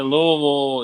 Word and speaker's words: Louisville: Living in how do you pronounce Louisville. Yeah, Louisville, it's like the Ohio Valley, so we're in a valley, so like allergies and humidity is fucking murder here.